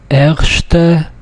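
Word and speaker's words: ערשטע: Erste Lektie. Erste Lektie. As you can see, the word erste has two syllables. Erst, erste, erste. So it falls on the second from the last, which is this one.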